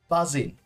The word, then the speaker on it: buzzing: buzzing now this one you have to use without the g buzzing the m sound at